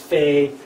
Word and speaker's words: Pe: So for example, the letter Pei can be pronounced Fei, or Tav as Thav, or Bet as Vet, Kaf as Kaf.